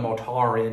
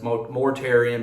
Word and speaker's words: Mortarion: Maybe I heard a British guy pronounce his name, and then I kept going Mortarion when it's Mortarion, but whatever.